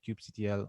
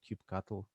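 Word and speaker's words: kubectl: kubernetes and the uh cube ctl or cube cattle or whatever are different uh pronunciations of the of the cli uh with with uh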